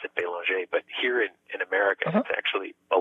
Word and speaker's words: Belanger: France, I pronounce it Belanger, but here in America, uh-huh, it's actually Belanger. Oh, is it really? Yeah. No, but I when in Canada, when in France, I freely pronounce it the French way, and I'm happy to do so.